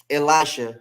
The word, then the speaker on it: Elisha: so here she goes ella shea grayson and i or elisha that's how you would really say his name but in the book